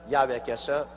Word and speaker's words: 야훼: 왜냐하면 원래 일을 행하시는 여호와, 그 일을 지어 성취하는 야훼 하나님이신데, 야훼라 해도 좋고 여호와라 해도 좋습니다. 그러나 야훼란 말이 더 정확한 발음입니다.